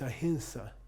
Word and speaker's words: ahimsa: Ahimsa is incorrect. There's no such sound before an S. It's ahimsa, okay? Ahimsa.